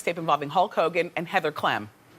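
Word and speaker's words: Heather Clem: involving hulkk Hogan and Heather CLM which rhymes with Flem Heather CLM is the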